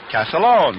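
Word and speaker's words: Castiglione: one but the way he says the family pronounced it is calone just like uh o c AA l o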